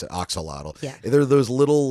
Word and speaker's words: axolotl: just call it or just pronounce it axolotl.